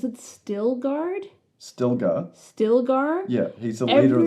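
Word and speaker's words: Stilgar: still guard still guard stillar yeah he's the leader of the every time anyone says his name they they don't pronounce the L they call him like stoar and so the whole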